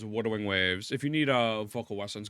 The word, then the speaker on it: Wuthering Waves: The way you pronounce it is Wuthering Waves.